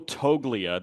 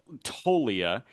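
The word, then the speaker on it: Toglia: Michael Tolia. The G is silent like lasagna. It's a little Wayne lyric. Tolia.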